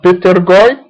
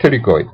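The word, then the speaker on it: pterygoid: تكتب بيتريون لكن تلفظ تيريون، البي سايلنت مثل تيريغويد، تكتب بيترغويد بس تلفظ تيريغويد.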